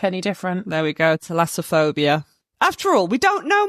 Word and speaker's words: thalassophobia: There we go, thalassophobia.